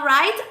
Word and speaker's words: right: How do you spell right? R-I-G-H-T. R-I-G-H-T. And the G-H is silent.